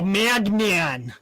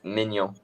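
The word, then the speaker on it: Maignan: Most English people go Magnan. No, They say Magnon. Magnon. My nan. But the real pronunciation is Mignon.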